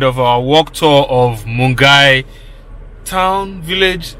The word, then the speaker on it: Milngavie: that's the end of our work tour of mungai town village mungai it's spelt m-i-l-n-g-a-v-i mungai mungai watch like share subscribe